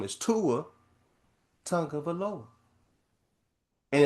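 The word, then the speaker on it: Tagovailoa: man name wrong, Tua Tonga Valoa. Tongue of Aloha. Say it that way.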